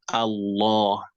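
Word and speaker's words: الله: But when whatever comes before it has a kasra, you say la, lahi, lahi, billahi, like that. But if you're pronouncing the word alone, like that is nothing is coming before it, then you say Allah, Allah, because in that case you are giving this alif a fatha.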